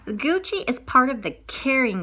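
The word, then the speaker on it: Kering: is part of the caring group and i'll spell that for you k-e-r-i-n-g caring group and i say in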